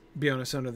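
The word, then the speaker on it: Beyoncé: word with the stress on the middle syllable right we never it's the only time we've gotten that pattern butterflies gossamer we get the stress on the first syllable in both of those three syllable words right and butterflies and gossamer um and uh yeah it is beyonce the only word with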